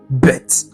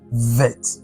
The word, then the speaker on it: bet: But bait has different um pronunciation depending on whether there is a desh present or not. With a desh it's pronounced bet. That is dh is pronounced vet.